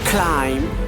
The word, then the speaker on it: climb: So we can pronounce like this: come, bomb, thumb, climb, tomb, crumb and lamb. So here B is silent.